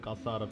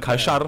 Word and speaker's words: kaşar: Beyaz peynir, kasar peyniri. Çok iyi söyledi. Kasar peynir, kaşar peynir.